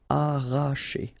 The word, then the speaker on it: arracher: Okay, don't pronounce the double R, sorry, it's just like if you would have only one. Arracher, arracher.